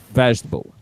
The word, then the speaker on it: vegetable: And finally, this word, remember the tonic, the stressed syllable here is vegetable. Repeat with me, vegetable.